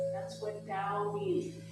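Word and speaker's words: Tao: They believe way is the way or the da. That's what da means. It's spelled t a o pronounced with a d.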